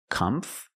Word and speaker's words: comfortable: more common comfortable comfortable so you have three syllables the first syllable is com com the second syllable is tur tur and the last syllable is bull bull together comforable comforable put the stress